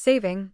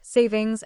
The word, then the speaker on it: saving: the time change and why it's saving not savings as often mispronounced what is Daylight Saving